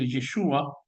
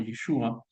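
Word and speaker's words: ישוע: sí, por supuesto que tiene un origen en el arameo galilaico y sí se pronuncia en algo parecido como Yeshua y lo estoy pronunciando seguramente mal porque yo no conozco el acento ni las ni los matices del idioma.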